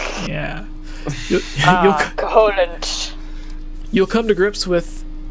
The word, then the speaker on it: Koholint: Like lint. Like, we did some laundry, I got lint. Yeah. Koholint.